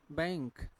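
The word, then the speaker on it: bank: के तो क्या बना तो यह बनक नहीं है बैंक ठीक है फिर क्या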